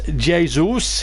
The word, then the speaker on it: Jesus: as they just play sensibly and and the pronunciation debate goes on rod says it's Jay Zeus he's Brazilian and woodpecker who announced old city